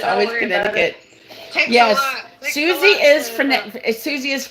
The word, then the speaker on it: Connecticut: It's always Connecticut. Yes. Susie is Susie is from Connecticut. Connecticut. I can't even say Yeah. The C is silent and in there.